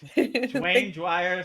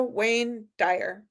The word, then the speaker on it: Wayne Dyer: Dwayne Dwire says, "Thank you."